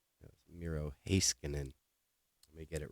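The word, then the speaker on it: Miro Heiskanen: peachy you sent me mirojiskinen I mispronounced this guy's name over and over and over again the last time I was showing his cards so it's Miro hey skin and let me get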